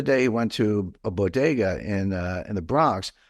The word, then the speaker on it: bodega: ago and she said Boda and I was like what the heck's Boda but I realized that she couldn't pronounce Bodega it which is you know Spanish that's how you say it uh but I like